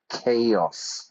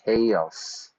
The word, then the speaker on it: chaos: into chaos Spanish students notice the pronunciation the hard K chaos chaos on the other hand